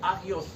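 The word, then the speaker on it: ἅγιος: Este, este término de santificación viene de un término griego llamado pronunciado agios. Agios, que significa santificación.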